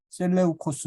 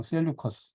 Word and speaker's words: 셀레우코스: 이집트 지역을 주로 다스렸던 프톨레미 뭐 영어로 하면 프톨레마이오스라고도 하고 하는데 프톨레미 뭐 발음하기도 셀루호코스도 셀레우코스 이렇게 발음하기도 하고 그냥 셀루커스 이렇게 발음합니다 안티고노스도 마찬가지입니다 그래서 안티고노스